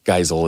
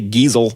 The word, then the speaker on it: Geisel: Or Giesel, I don't know how you say it. Geisel is how I've always heard it.